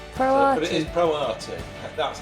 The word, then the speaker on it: Pro Arte: Pro Arte. That's how you would pronounce it.